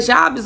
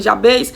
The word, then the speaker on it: Jabez: Muitos vão dizer Jabes, outros dizem Jabez, muda-se a pronúncia.